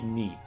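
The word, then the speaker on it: に: So we see Ni. That's how you pronounce that hiragana.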